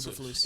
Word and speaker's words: Eberflus: Eberflus.